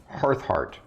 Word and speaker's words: Hearthheart: And that is Cora Hearthheart. Kora, and then Hearthheart is spelled not like normal hearth, it's just Harth, and then heart.